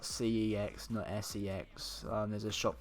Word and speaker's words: CeX: missing life is missing with me but yeah it's spelt cex no se X there's a shop called C X and it's